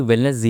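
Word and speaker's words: Wellness G: इसको basically वेलनेस जी ही बोला जाता है। ठीक है? एंड जी basically stands for जजी। हम तो हमने उस हिसाब से इसको वेलनेस जी बोलते हैं।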